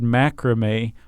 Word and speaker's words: macramé: And there's this post called, "There's a reason why the word macrame rhymes with scare away."